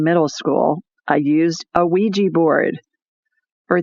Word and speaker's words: Ouija: And so some people maybe pronounce it Ouija board, but I always heard it was Ouija board. So that's how I'm saying it.